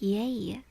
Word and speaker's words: yea: The same as yay from yay or nay.